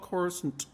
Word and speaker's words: Coruscant: We didn't know it was pronounced Coruscant. We all called it Coruscant because that's how Timothy Zahn pronounced it." And one day, George Lucas called us in a conference call and said, "No, it's called Coruscant."